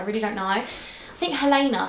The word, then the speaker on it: Helena: But I'd like it pronounced Helena, like Elena.